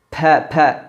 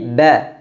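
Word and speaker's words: ب: udaranya tertahan tidak dialirkan tidak dibaca ap ap pa pa tidak tapi ba ab ab sifat huruf ba yang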